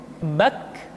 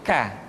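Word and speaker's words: ك: Selanjutnya huruf K diucapkan dengan mengangkat pangkal lidah kita ke posisi di depan huruf Qaf. K diucapkan dengan mengalirkan nafas kita. K, ki, ku, bak. Terdengar ada suara yang atau nafas yang mengalir.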